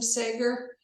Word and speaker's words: Sager: to introduce say is it your last name Sager yes okay I wanted to be